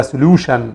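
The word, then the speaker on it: session: او حوائط وبعد كده سشن سشن التي اي ا ان بتتنطق شن سلوشن يعني حل سمارت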